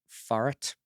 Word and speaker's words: Farah T: It's pronounced Farat.